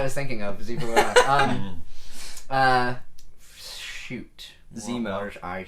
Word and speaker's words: Zemo: They had the villain Zivu running around doing his whole thing, and that's Did you not say his name. Zivu? I did. What is it? What's his name? Zemo. Zemo. I said Zivu.